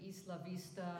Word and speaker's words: Isla Vista: up the pronunciation like Isla Vista should be East LaVista etc the things that